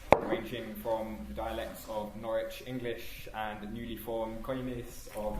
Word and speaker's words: Norwich: And um we prefer that the the city of Norwich is pronounced Norwich and not Norwich. Just so that you know what I always say is no itch in Norwich. It rhymes with porridge.